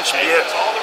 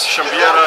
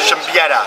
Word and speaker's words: Siembieda: gamers, Matt Lemke here with Through Gamer Goggles, and I'm with Kevin Siembieda. Yeah, I said it wrong again. Darn Polish Siembieda, roots. Siembieda. Siembieda.